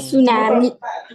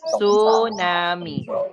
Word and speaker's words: tsunami: Tsunami. Yes, okay. Tsunami. Okay, it is silent T, okay? Tsunami.